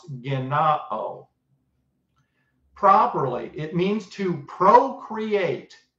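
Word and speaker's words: γεννάω: It's pronounced genao.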